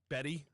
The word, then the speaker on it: Bette: of Independence uh 1989 bet Davis Betty Betty Betty Davis oh I was going off of like Bette Midler you know they spell it the same way yeah uh and 20